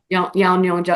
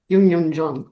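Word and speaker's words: Youn Yuh-jung: Yong J. Is that how you say her name? No. Yun Yun Jun. Yun Yun Jung.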